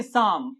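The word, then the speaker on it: psalm: आपने नोटिस किया होगा एम से पहले एल साइलेंट हो गया, इसको पढ़ेंगे साम। ये पी भी साइलेंट है यहाँ पे, साम।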